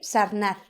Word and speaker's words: Sarnath: Pues aquí parece que la primera ciudad fue Sarnath, o como se pronuncie, que está cerca de Benarés. Sarnath, sí, es Sarnath.